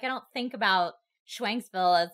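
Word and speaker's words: Schwenksville: It was Schwanksville, I believe.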